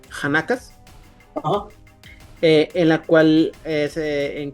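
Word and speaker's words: khanaqas: Ahí establecieron 6 escuelas distintas conocidas como Kanakas o no sé, Yanakas, ¿será? Es que es K-H-A-N-A-Q-A. Han. Pronúncialo como Han. Hanakas.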